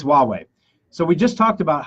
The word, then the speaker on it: Huawei: a huawei sign asking people how they would pronounce it how do you say wah way okay we're going to post that video later but anyway so it's Huawei so we just talked about how Huawei has